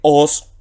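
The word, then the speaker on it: ὡς: Y aquí tenemos una conjunción que se lee os, omega equivale a la O, sigma final S, y son dos conjunciones que se traducen respectivamente.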